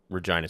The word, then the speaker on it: Regina: So the Regina left, it's named after Regina, Saskatchewan. So that is the correct way to pronounce it.